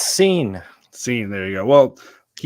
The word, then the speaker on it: Cine: I know you have the pronunciation correct. It's Cine.